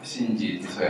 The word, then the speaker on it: 進士五十八: ちょっと読み方が難しいんですが、新次磯谷と呼びます。